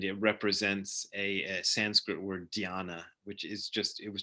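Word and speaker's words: ध्यान: represents a Sanskrit word dhyana, which is just, it was just a character they created to represent this Indian word, which dhyana is usually translated as meditation, but also you can pronounce it jhana, or which in which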